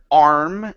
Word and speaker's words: arm: So first up, with the word arm, instead of saying okay, it's an R. Give me an R vowel. Arm.